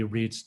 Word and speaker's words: REIT: largest uh lodging Reit the acronym is is pronounced Reit um in the uh in the world um